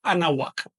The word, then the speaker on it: Anáhuac: Anáhuac se pronuncia así. Anáhuac. Pegando muy levemente o casi pegando los dientes superiores al labio inferior. No se pronuncia anáhuac, no es así. Esto es una consonante, la consonante W, que en náhuatl tiene una pronunciación un poquito cerrada.